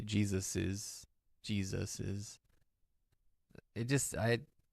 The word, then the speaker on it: Jesus's: with no apostrophe s, most people pronounce it with an extra ez sound at the end. Jesus's.